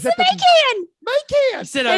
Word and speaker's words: Macan: It's the Macan. Is it a It's the Macan? It's Is it the a Macan? Well, it's the Macan. Macan.